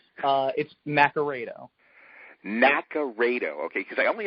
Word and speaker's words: Naccarato: Is it Naccarato? Is it potato, tomato? It's Naccarato.